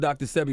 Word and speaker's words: Sebi: one thing, they killed Dr.Sebi, will make somebody go research who Dr.Sebi is. 100%. DrSebi. I thought it was Sebi. DrSebi. See, my bad, I said it wrong.